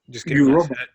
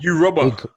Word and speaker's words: Yoruba: Yoruba. Yeah. Did you not know that's how it's pronounced? And Igbo. Look at Jimmy's face. There's capital G in there. Yoruba.